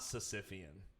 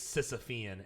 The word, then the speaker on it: Sisyphean: you know about this it's not sicifian it's a fan it's sisyphean and i was like